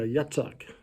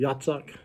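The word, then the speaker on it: יצחק: Yeah, Yitzhak. That is how they pronounce it, or how it would have been, almost like Yahtzee, Yitzhak.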